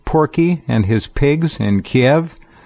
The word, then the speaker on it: Kiev: and his pigs in Kiev or keev as it is pronounced over there against violating the Minsk